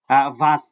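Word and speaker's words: was: দেখে নেবেন একটু হ্যাঁ আমরা ডাব্লিউ এর উচ্চারণ ভ এর মতো এ হচ্ছে আর আর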